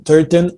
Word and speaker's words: Turton: and I have the pleasure to have turton I hope I'm pronouncing the name right you are that is